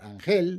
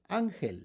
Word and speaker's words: ángel: It's not ángel, it's ángel. So, we put a written accent there on the a.